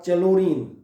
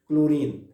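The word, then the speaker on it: chlorine: जब आप क्लोरीन पढ़ते हैं सो इट इज नॉट चलोरीन, मतलब एच इज साइलेंट, और H silent is ऑन the basis of pronunciation. First और सेकंड लेटर कौन होंगे, क्लोरीन।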